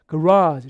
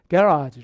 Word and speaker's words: garage: 저도 다 따로 외운 건데 그래서 차고할 때 garage 이렇게 강세 뒤쪽에 간다면 이게 이제 미국식이 아니라 영국식이 되면 강세가 여기 있어요. 그래서 약간 발음이 garage 이렇게 되기 때문에 그러니까 평소에